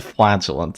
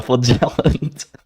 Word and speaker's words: flagellant: No, Mike, it's a flagellant. It's not a flagellant. You can say it both ways. The stress can be on both, like the first and that. I'm pretty sure there are 2 pronunciations possible.